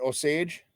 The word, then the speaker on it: Osage: Osage? Yeah, Osage City.